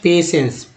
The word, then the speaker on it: patience: और देखिए एक एग्जांपल ले लीजिए, मान लीजिए मैंने यहाँ लिख दिया पेशेंस, PATIENCE, उच्चारण करते हैं पेशेंस, ठीक है। पेशेंस में जो देखिए सी ई से स होता है, एन से जो है न हो गया, पी ए से पे हो गया, लेकिन से के लिए